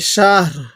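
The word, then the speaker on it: شهر: খায়রুম মিন আলফি শাহর, এই রটা হালকা উচ্চারণ করব, রয়ের নিচে 2 জেরকে বাদ দিয়ে দিব।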